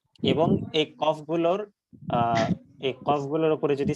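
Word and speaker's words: ك: হচ্ছে এই দুইটার মাঝখানে অর্থাৎ জিওভার গোড়া থেকে একটু সামনে যে অংশটা সেটা উপরের তালুর সাথে লেগে উচ্চারিত হবে কাফ এটা হবে পাতলা কাফ কাফ আর যেটার উপরে দুই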